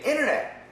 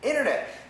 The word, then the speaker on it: internet: we say International International internet we say internet internet the N cancels the T proper pronunciation International internet